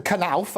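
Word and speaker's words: Knauf: doesn't matter whether jason canalf and that is how you pronounce his name the connives are out the k is not silent nobody silenced this case the revelation that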